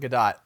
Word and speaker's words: Gadot: I go to these all the time, but she pronounced it Gadot. But I need to change mine because she's the one who would know.